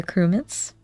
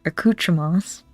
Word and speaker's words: accoutrements: a use for equality accruaments our accoutrements pretty sure that was the correct pronunciation accoutrement is that out